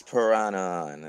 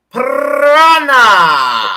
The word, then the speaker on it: Piranha: that's pretty much it some people go prince piranha that is prince piranha no you wanna you wanna prince prana exactly throw it out there i'm from the amazon as as in brazil you roll your r's there i i i got